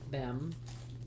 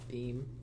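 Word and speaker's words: Behm: Did I say it right? Beam. Martina Bem. It's not Beam.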